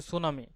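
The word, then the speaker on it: tsunami: সুনামি। সুনামির spelling যদি আমরা লিখি, দেখো সুনামির স্পেলিং প্রথমে তোমার শুরু হবে টি দিয়ে এবং টির উচ্চারণটা সাইলেন্ট থাকবে, TSUNAMY।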